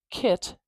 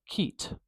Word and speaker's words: kit: They often use E instead. So instead of kit, it might sound more like keet, keet.